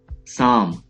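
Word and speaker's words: psalm: साम, हमदो सना, साम, हमदो सना। यहाँ पे दो लेटर्स साइलेंट हैं, पी एंड एल, साम, तो ये वर्ड बनता है साम।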